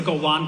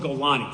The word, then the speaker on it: Golani: The second way, the same way you said that there's a Golan brigade. There's no Golan brigade. It's called Golani. So, it'll just make you sound smarter.